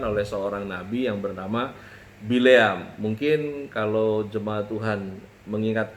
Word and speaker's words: Bileam: Jadi kalau dalam bahasa Arab itu Bileam itu dibacanya Bal'am.